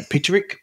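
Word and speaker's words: Peterik: you know, John Lodge, Jim, I'm trying to pronounce his name now, Peterick from... Peterick, yeah, that's it, Survivor.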